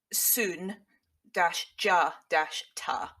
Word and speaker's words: Sundiata: Sund yeah so basic his first name is the only thing that I was able to find a pronunciation thing for right which is apparently Sun DJ dashta supposedly but yeah it's all